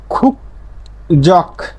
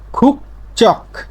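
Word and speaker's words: 국적: তেমনি ভাবে খুক জক না হয়ে কি হবে খুক চক, ক ধ্বনির একটা বর্ণ পাইছি গিউ, তারপরে 5টা বর্ণের মধ্যে একটা পাইছি।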